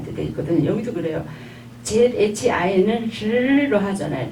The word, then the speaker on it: zhi: 이 발음이 이제 음모를 할 때 이를 하긴 하는데 이 성모하고 결합되어서는 으 발음이 날 때도 있고 이 발음이 날 때도 있거든요. 여기도 그래요. ZHI는 즈로 하잖아요.